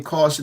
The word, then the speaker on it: Kausion: in the game with the name caution even though it's spelled different with a k k a u s i o n a parallel was drawn